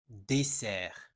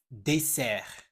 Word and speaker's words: dessert: Dessert, repeat after me. Dessert. En français, dessert s'écrit avec 2 S. Quand tu vois 2 S en français entre deux voyelles, on prononce un S, pas un Z.